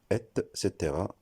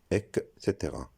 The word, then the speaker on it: etc.: Donc, on le prononcera etc. et non etc.